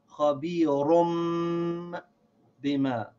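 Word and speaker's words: خبير بما: So instead of saying run, like with the noon sound, we say rum, like with the meme sound. Khabirum bima.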